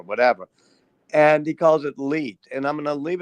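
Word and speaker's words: leet: is an internet meme which you can pronounce his lead because if you look at the numerals it kind of looks that way and that was going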